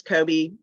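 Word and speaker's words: Coby: Now, when you met with Kobe Smith, is Kobe the proper pronunciation? Yes. With Kobe Smith, who was a co-founder of the Invaders,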